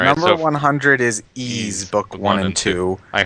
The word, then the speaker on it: Ys: Number 100 is Ease Book One and two. I heard it's very good, but I haven't played it. Yeah. Same here. Is it pronounced ease? Not wise.